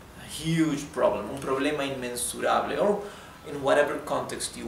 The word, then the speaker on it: inmensurable: And try to pronounce this R correctly, not rable. Rable, no, it's rable, rable, right?